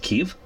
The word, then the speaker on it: Kyiv: I believe it's in proper Ukrainian. It's pronounced Kyiv.